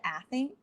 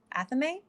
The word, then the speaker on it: athame: aries leo and sagittarius wow i made that pronunciation weird tools include the wand or the athene athame i always use an athame when i'm working